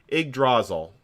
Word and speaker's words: Yggdrasil: No, Yggdrasil. And that is, in fact, how you pronounce it. I have gotten that checked multiple times.